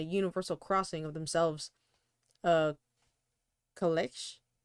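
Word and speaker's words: calèche: peasants and a universal crossing of themselves, a kalesh? How do you say it? Oh, yeah, I think you were Yeah, saying it right. kalesh.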